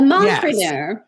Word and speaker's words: mompreneur: Is that how you would pronounce it? - Yes. - A mompreneur.